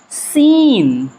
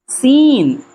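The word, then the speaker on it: scene: सीन सीन एस सी एन ई।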